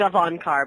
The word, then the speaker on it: Gavankar: are here with Janina gavankar I think I pronounced that correctly yeah sure alright fine how do you pronounce it I think of on car but who cares okay